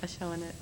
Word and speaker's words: Adjchavanich: Adjchavanich. There you How do go. you say it? Adjchavanich. See, she can't even pronounce it.